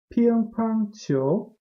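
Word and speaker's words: 乒乓球: This is Piang Pang Qiu. Piang Pang Qiu, and you might see from my pronunciation that it basically means ping pong.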